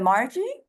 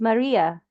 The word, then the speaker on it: Maria: and Jerome and then is that Margie is did I say it right you can me yourself yeah it's Maria Maria oh okay okay hi Maria your name is yeah okay well it's Serbian name that's how we spell Mary oh okay very cool